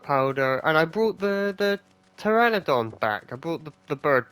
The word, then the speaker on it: Pteranodon: But it's a silent P in it, so it's Taylor the Pteranodon.